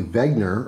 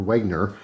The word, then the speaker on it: Wenger: this was a Victorinox it is in fact a Vagner or Wagner depending on how you're pronouncing it it is a very